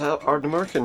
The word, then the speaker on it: Ardnamurchan: It's Ardnamurchan, yeah, he's right. He didn't pronounce it wrongly. He pronounced it quite correctly, in fact.